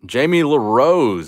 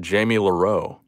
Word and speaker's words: Jamie Larose: pidgeot spirit link magikarp jamie larose is in the chat i will never mispronounce your name again bro i used to pronounce it jamie loreau seal poliwag yo nick